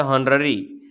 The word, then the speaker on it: honorary: Pronunciation कुछ और होता है, लेकिन लिखा कुछ और है। हॉनररी प्रोनाउंसिएशन होता है, लिखा है HONORARY।